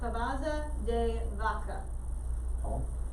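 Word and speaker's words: Cabeza de Vaca: someone else all right it's spelled funky i'm just giving it a spanish pronunciation so cavaza de vaca so it's on page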